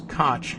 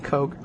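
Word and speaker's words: Koch: tax break mayor kotch's remember when we used to pronounce k c as cotch rather than Coke mayor kotch's hbd commissioner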